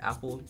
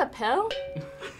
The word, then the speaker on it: Appel: I'm assuming his last name is pronounced Apple. It's not a pill? That is correct!